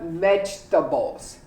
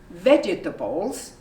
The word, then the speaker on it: vegetables: bought a lot of vegetables you don't say vegetables you say vegetables okay here we go